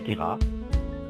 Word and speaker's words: Queyras: Le Queyras, si vous ne voulez pas passer pour un Marseillais, prononcez Queyras.